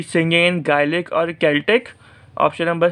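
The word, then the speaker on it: Celtic: अच्छा, कुछ लोग उसको सेल्टिक पढ़ते हैं लेकिन असल जो प्रोनाउंसिएशन होती है वो सेल्टिक नहीं बल्कि केल्टिक होती है।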